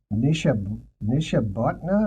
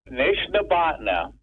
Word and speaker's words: Nishnabotna: Something like a Nishabotna or something? Nishnabotna.